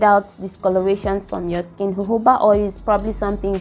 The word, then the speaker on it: jojoba: Sometimes I used to call this oil jojoba oil. It is not pronounced jojoba. I think it's called jojoba oil.